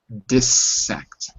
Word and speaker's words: dissect: So it's a closed syllable, and the closed sound of an I is I. Dis. If it was die, it would be dissect. But the closed sound is when you end a consonant, you end a syllable with a consonant, we call that a closed syllable, and the I changes to I like pig, dissect.